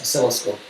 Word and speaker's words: oscilloscope: they did the video you don't pronounce the first c they just os you just think of it as os oscilloscope actually it really doesn't